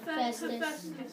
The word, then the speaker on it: Hephaestus: Festus. Whose Roman name was? Vulcan. Good job on pronouncing Hephaestus' name correctly.